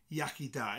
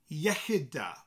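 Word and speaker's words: iechyd da: different from yakida so if you hear somebody saying yakida tell them no no that's not how you say it this is how they say it in Welsh it's yahida so I've given you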